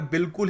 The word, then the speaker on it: bowl: देखो BOWL, लोग सोचते हैं BOWL है, बाउल है, बाउल of rice, बाउल of soup, soup बाउल, बाउल है, नहीं। देखो इसको सही तरीके से प्रोनाउंस करने का तरीका है बोल, बोल। अ बोल of rice, a बोल ऑफ कुछ भी कह लो यार, बोल होगा, ठीक है? BOL टाइप ऐसे बोला करो।